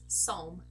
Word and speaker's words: Psalm: Palm song yes guys we don't pronounce this P okay it's Psalm so bomb comb pom